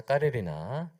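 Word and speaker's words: Каренина: 러시아의 거장 톨스토이의 소설 안나 까레리나 발음을 잘못하시면 안 됩니다. 카레리라가 아니라 까레리나네요.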